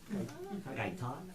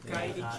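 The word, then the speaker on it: Gai Tod: Gai Tot, T-O-D, Gai Tot. Like, Kai and then Todd. yeah. Kai Tot.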